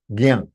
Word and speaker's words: ज्ञान: Ja and anunasika gives you gyan. It is gyan. Anunasika, gyan. It has to be nasal sound.